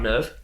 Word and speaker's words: NERV: Misato gives Shinji a file to read about Nerve. It's called like Welcome to Nerve or something like that. Which looks just like a brochure, kind of, hey, welcome to Nerve. But Nerve is spelled Nerv.